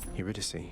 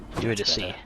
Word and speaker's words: Eurydice: Eurydice. Eurydice. I've been pronouncing it incorrectly.